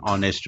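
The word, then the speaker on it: honest: उच्चार तो spelling H असलं तरी त्याचा उच्चार आहे डब्ल्यू ओ प्रमाणे. ऑनेस्ट ओ म्हणून अन ऑनेस्ट.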